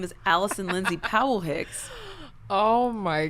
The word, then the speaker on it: Allycin: But my name is spelled wacky. ALLYCIN. Allison.